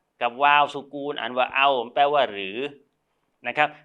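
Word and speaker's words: أو: อิสระ ฟ้า ท้า กับ วาล์ว ซุกูน อ่าน ว่า เอา แปล ว่า หรือ นะ ครับ แต่ หรือ ตรง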